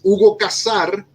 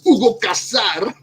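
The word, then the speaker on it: Hugo Cassar: House number one is Hugo Casar, and you gotta say it like that, Hugo Casar.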